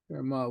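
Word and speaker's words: Fermat: which is faas theorem herma was French so you don't pronounce the T and Oiler was Swiss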